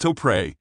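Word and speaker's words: Topre: the ultimate typing switch the topper switch pronounced to pre as it stands for Tokyo press rarely appears in gaming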